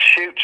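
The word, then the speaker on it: Chutes: Beast of seven shoots and his shoots is spelled c hu Tes and seven shoots is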